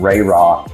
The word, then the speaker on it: Rae Rock: So, Ray Rock Services, um, the name Ray Rock, you know, it's spelled a little differently, R A E R R O C K.